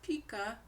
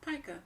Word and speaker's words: pica: It looks like it's pronounced pica, Pica, but it's pronounced pica, pica disorder.